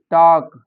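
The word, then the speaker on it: talk: फिर काम मतलब शांत और इसमें एल के बाद देखो एक वोवेल है एल से पहले फिर के टॉक टॉक होता है बात करना वाक होता है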